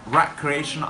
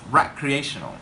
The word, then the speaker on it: recreational: we just remember that for the noun form we pronounce recreation. Okay, recreation as a noun, but for an adjective we pronounce recreational. Okay, recreational. Just remember that we pronounce recreational, not recreational. Okay, so recreational activities, just